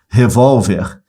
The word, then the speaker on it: revólver: Então acentuamos as paroxítonas terminadas em R, ó, revólver, separa sílabas. Revólver, tá vendo? Ó? Revólver, paroxítona, terminada em R. Paroxítona terminada em R é acentuada.